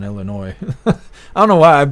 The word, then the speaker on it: Illinois: oh no why did Illinois look like it just went blue I'm pretty sure Illinois was blue I don't know why I've been saying the S on Illinois I don't know why